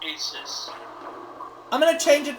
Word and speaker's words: Isis: is the tough one it is Isis or again it's Aces I'll go we'll go with Aces no I meant it's pronounced Aces I'm going to change